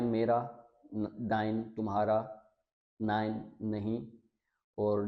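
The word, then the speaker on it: nein: उल्ट कर दें हम, ए और ई का कम्बिनेशन, तो इन दोनों को मिला के हम पढ़ते हैं आई, आई। अब फर्स्ट देखते हैं हम। अब ये है डाई, ये डी नहीं है, डाई। फिर सेकंड लाई, पाई, याई, आइंस, माइन, डाइन और नाइन।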